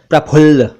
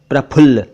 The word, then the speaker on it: प्रफुल्ल: प्रफुल्ल, जिसे आमतौर पर प्रफुल्ल कह दिया जाता है। प्रफुल्ल सही उच्चारण है प्रफुल्ल, प्रफुल्ल। इसका अर्थ होता है खिलना।